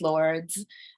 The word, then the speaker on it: Lwrds: Uh, my name is Lords. Pronounce Lords.